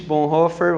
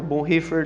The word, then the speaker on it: Bonhoeffer: Tem um autor que nós gostamos muito, ele participou efetivamente de tudo que aconteceu com Hitler, ele se chama Dietrich Bonhoeffer, ou Bonhoeffer, depende da sua pronúncia.